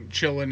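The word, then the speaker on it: Quillin: and it's called a chilling i guess it's spelled q-u-i-l-l-i-n i think or ln or l-i-n or something it starts with a q i know that but it's pronounced chillin and apparently these are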